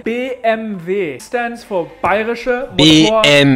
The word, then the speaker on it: BMW: howdy howdy howdy BMW in German you say B M V stands for pyroshow be